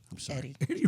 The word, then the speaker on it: Eddie: Now, I said Edie because I was talking about your name, and I said, I would think it's Edie, but no, it's Eddie.